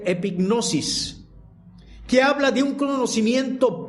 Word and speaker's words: epignosis: Usa una palabra griega que se pronuncia epignosis, que habla de un conocimiento pleno, de un conocimiento absoluto o lleno de algo o de alguien.